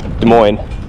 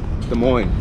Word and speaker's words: Des Moines: Des Moines. Des Moines. Oh, Des Moines. Des Moines. Des Moines. Des Moines. Kind of rhymes. Des Moines, yeah. Kind of rhymes with tenderloin.